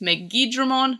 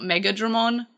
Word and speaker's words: Megidramon: Season 3 had Megidramon, which is Megidramon, not Megadramon. Sometimes I pronounce them the same way, I just have to point that out.